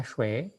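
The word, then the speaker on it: 谁: Oke, ini bacanya shui. Shui, nada kedua.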